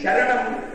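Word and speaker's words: शरणम्: The way in which the pronunciation is written in English transliteration is, yes, downward they will put a dot. It is pronounced as Shar. So, Sharanam.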